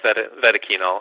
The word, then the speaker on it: Vetoquinol: And I know your company, Vetoquinol, am I pronouncing it correctly? Yeah, Vetoquinol, yep.